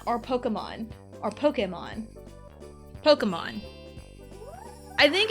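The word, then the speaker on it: Pokémon: when I say it, but I know it's Pokemon because it has the little the little thing over the E. I don't know what it's called, but it has a thing over the E. So that implies I say implies it, you know, should insinuate that it is e.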